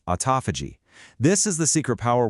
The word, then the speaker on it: autophagy: Autophagy, and yeah, it's a mouthful. It's pronounced autophagy is basically your body's natural recycling program.